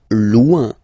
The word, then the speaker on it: loin: Loin, loin. So remember, when you get this combination O-I-N, it's ouin, ouin, ouin, okay? Loin, all right?